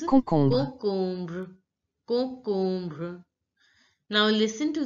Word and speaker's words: concombre: Cucumber is pronounced as concombre in French. Concombre. Concombre. On is pronounced as on. On. Om is pronounced as ombre. Om. So it becomes concombre.